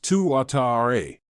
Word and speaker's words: Tuatara: hour the American SSC Tuatara pronounced two Atari in case you're having trouble pronouncing its name takes the second spot